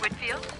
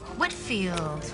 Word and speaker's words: Whitfield: Hi, I have a meeting with Olivia next week and just wanted to get the pronunciation of her last name correct. It's Whitfield. Whitfield.